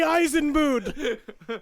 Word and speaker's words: Eisenbud: IT'S PRONOUNCED ULI. ULIE EISENBOOD.